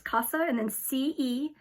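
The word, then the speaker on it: Casa Cenina: It's Casa and then Cena.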